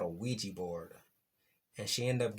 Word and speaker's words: Ouija: In the movie, this little young lady had been playing with something called a Ouija board, and she ended up getting possessed and